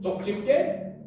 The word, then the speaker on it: 족집게: 보자라는 거죠 그렇죠 자 족집게가 맞을까 족집게가 맞을까 어느게 맞을까 반음은 쪽집게 쪽집게 어 어 어느게 맞을까 그렇지 발음은 어 쪽지 어 어 족집게가 여기게 맞는 발음이 그렇죠 그러면 표기는 어떻게 해야